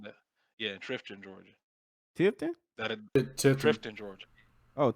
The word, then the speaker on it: Tifton: Tifton. That Tifton. Trifton, Georgia. Oh, It's Tifton. Oh yeah, yeah, man. Is it I was Tifton or born down Trifton? there. Tifton, sir.